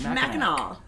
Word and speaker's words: Mackinac: You guys can't say Mackinac Island. I can. You heard me. It's Mackinac.